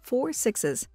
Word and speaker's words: 6666: join another spin-off series called 6666, pronounced as 4 sixes.